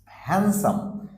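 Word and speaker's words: handsome: হ্যান্ডসাম হ্যান্ডসাম তার মানে D silent হচ্ছে হোয়াই বিকজ ডি এর পরে এস আছে এজন্য ডি এখানেও সাইলেন্ট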